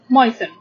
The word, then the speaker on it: moisten: Here the word moisten, the T is not pronounced, so it's moisten.